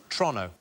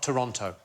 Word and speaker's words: Toronto: than it should be so it's Toronto not Toronto OH is it tonon Toronto Toronto like as quick